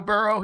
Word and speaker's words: Burrow: I like Joe Burrow. He likes Skyline Chile and like just I like that name. It rhymes with wheelbarrow and that's what your grandfather picked me up in.